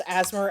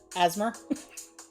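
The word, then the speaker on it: ASMR: By the way, I pronounce Asmer as a word. Asmer.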